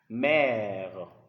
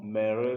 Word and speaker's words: mère: So because of this sign on top of the letter E, the pronunciation changes to E. So don't say peureux or mereux, no. It's père, mère.